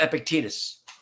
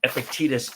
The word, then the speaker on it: Epictetus: disappointed and just just so you know um epictetus is spelled e p i c t e t u s and it's pronounced epictetus so there's a little